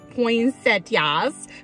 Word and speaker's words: poinsettia: I always kind of pronounce it like there's a T in the middle, and I know there's not. Like poinsettia, poinsettia, poinsettia. Everyone says it a little differently.